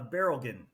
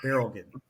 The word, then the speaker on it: Berilgen: Uh, Barrelen, like a barrel of oil and again. So, Barrelen.